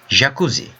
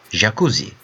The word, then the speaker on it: jakuzi: For example, how you pronounce the word treasure? Treasure. Treasure. Right? So that sound, J sound, in Turkish is a letter. It's a consonant. JAKUZİ. JAKUZİ.